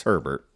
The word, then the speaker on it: Herbert: think Town CER khil her bear how do you say that it's Herbert it's like Sherbert okay with an H all right from the